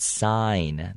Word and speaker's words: sign: attention to the word sign the g is not pronounced okay the word is actually pronounced like s-i-n-e okay but it's spelled